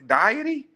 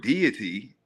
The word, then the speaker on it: deity: Now, you might hear the word deity and if if you got an accent, you might pronounce it diety. But diety, but what makes it, it's not funny, but I get it because if you look at the word deity, right, I can see if you just pronounce it like it looks, it looks like diet, right? Diety because it's diet with a Y on it.